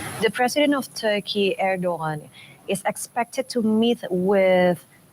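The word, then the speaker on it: Erdoğan: door is open the president of Turkey arrogon erdogan erdogan erdogan that's how you pronounce it it's a little bit hard for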